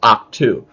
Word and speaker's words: Ahch-To: Oh, that's how it's pronounced, Ahch-To. Yeah, some people pronounce it differently, but I just say Ahch-To.